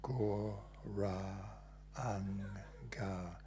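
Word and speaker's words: Gauranga: So Go, Ra, Anga, these 4 syllables.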